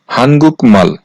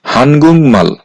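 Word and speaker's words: 한국말: এখানে গিউক বাচ্চিমের পরে মিউম আছে এই শব্দটার উচ্চারণ হওয়ার কথা ছিল হানগুক মাল কিন্তু বাচ্চিমের রুলস অনুযায়ী বাচ্চিমে যেহেতু আছে গিউক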